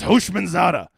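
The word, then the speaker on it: Houshmandzadeh: Oliver says it's pronounced Hoshmanzada.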